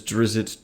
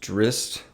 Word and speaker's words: Drizzt: Alan Mandragoran versus Drizzt Du'Urden, or as it's apparently pronounced Drizzt, which I hate that. My whole childhood I called him Drizzt, and now apparently it's Drizzt, but I'm sticking with my pronunciation.